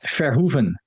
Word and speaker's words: Verhoeven: Verhoeven. Verhoeven. Okay, that's better. I like Yeah, that. Paul yeah. Verhoeven. Verhoeven actually means something. Oh. Verhoeven means reshotting, like horses. Een Oh. hoof, hoof. So Oh, okay. Verhoeven means basically reshotting a horse.